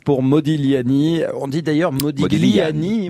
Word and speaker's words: Modigliani: On dit d'ailleurs Modigliani. Modigliani, on le prononce à l'italienne.